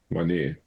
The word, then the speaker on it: Meinir: Her name is, it's spelled Meinir. Mynir. Sounds like a giant black stone monument you'd build to a Norse god.